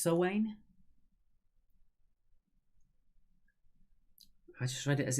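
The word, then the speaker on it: Samhain: I actually think it's pronounced Sowain.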